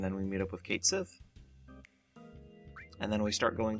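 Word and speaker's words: Cait Sith: Moogle cat combination called Kate Sith. Or I think the Japanese pronunciation is Ketshi, but I'm just saying it how his name actually looks.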